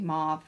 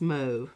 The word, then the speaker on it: mauve: how is it i i really want it to be mauve but that is not the proper way to say it it's move move it sounds so pretentious